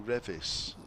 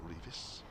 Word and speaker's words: Revis: Matthew Revis. It is, not Revis.